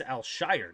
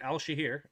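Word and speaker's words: Al-Shaair: Aziz Alshshire, not Alshahir. Alshshire. All right, here we go.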